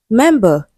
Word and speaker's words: member: Member, a noun stressed on the first syllable.